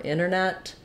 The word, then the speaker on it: internet: word like International or Internet I just said one with a tn1 without we will often see that t getting dropped and it'll sound more like internet or International Santa Barbara